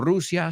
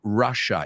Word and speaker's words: Russia: No Rusia, sino Russia. Y la doble S suena como SH. Russia.